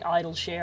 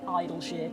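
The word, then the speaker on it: Idyllshire: It's technically idleshere. I don't know why I pronounce it Idles.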